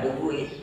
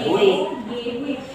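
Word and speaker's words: Duguit: Ya, Duguid. Duguid. Bukan duit.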